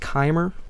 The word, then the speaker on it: Chimer: It's pronounced Chimer.